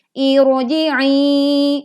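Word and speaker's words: ارجعي: Irji'i. Ini di dalam kita baca di dalam Al-Quran, maka kita bacanya ro-nya tetap tebal karena ini ada hamzah wasol.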